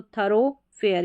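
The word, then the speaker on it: thoroughfare: तो थरोफेयर, यहाँ पर भी ओ है। तो ओ साउंड जैसे डो या दो, इन 2 में होती है, ऐसे आप याद रख सकते हैं क्योंकि इनका ज़्यादा इस्तेमाल होता है।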